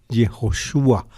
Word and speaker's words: Yehoshua: riendas de Israel es Josué, Yehoshua, se dice en hebreo, es el nombre mismo de Jesús.